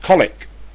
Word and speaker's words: Colwick: below is going to colwick in nottingham and that will get i said jackie i don't know what time i told you it might be spelt colwick but it's pronounced colic she says yeah i